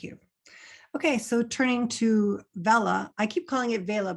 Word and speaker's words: Vella: be here and talk about we we do pronounce it Vela um but yeah they're here to talk about Kendall Bella so um for those who aren't familiar kendavella